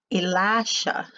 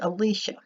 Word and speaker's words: Elisha: however you pronounce that always pronounced it Elisha but I've been corrected it's Alicia so here we see